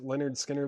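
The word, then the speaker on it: Lynyrd Skynyrd: Then Leonard Skinner, pronounced Leonard Skinner.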